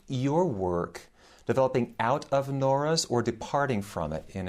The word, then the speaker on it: Nora: the uh French intellectual Pierre Norah or nor to give it its French pronunciation called uh the Le